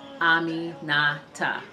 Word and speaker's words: Aminata: but mine's Aminata, and it's spelled the exact same way it's pronounced. I mean, people have always butchered my name. Why, I don't know. It's spelled just like how it's pronounced. Aminata.